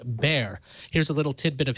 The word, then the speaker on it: Bexar: what we called it Bexar County is pronounced bear here's a little tidbit